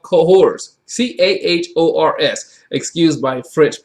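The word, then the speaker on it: Cahors: there's a whole section in the era called cohors c-a-h-o-r-s excused by french pronunciation i'll do my best you know which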